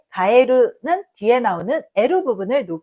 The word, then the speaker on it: 蛙: prononcé plus haut, et dans le mot かえる , qui signifie « grenouille », le qui suit est prononcé plus haut.